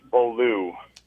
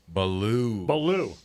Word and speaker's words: Beaulieu: My last name is pronounced Beaulieu. Beaulieu.